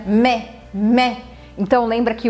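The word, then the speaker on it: mai: curtinho a gente pronuncia mé então lenda que o aí vai ter um som de e né o meu modo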